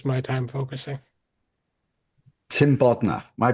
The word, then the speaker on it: Bodner: Tim Bodner. Am I pronouncing your name correctly? Got it. Tim Bodner, partner PWC and global real estate deals leader.